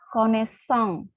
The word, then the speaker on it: connaissance: Tapi saya hanya melihat bahwa Balkis sudah bisa melafalkan connaissance, ya, karena dia tahu bahwa pada kata connaissance ya itu s ada 2, tidak 1, tidak sama seperti pada pose dan poisson ya.